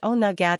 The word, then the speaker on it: Oweynagat: During Samhain, some of these creatures escaped via Oweynagat Cave, pronounced Oweynagat and meaning Cave of the Cats.